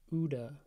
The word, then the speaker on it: UDA: We're going to call it OODA. Nice and simple, two syllables, OODA vulnerabilities.